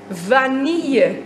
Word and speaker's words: vanille: Vanille? Nee, het is echt vanille. Je spreekt de L helemaal niet uit in het woord vanille.